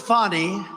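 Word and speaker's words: Fani: counts he worked with fonnie even though it's spelled Fanny f a n i fny how about that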